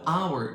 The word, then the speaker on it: hour: Even though our starts with h, it has a vowel sound.